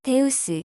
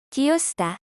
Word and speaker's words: Ζεύς: 제우스의 고전 발음은 데우스, 신약 발음은 제우스, 디오스다.